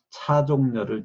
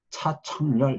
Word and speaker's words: 차종렬: 그리고 내 이름도 이제 써놓고 하면 읽어봐라 그러면은 차종렬을 제대로 발음하는 사람들이 거의 없어요. 차청렬 이렇게 하거나 자정렬 하거나 그러니까 지읒하고 치읓을 구분을 못해요.